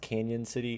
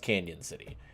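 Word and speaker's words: Cañon City: Next day we head up to, I think it's pronounced Canyon City. It's spelled Cannon City, but I think it's pronounced Canyon City.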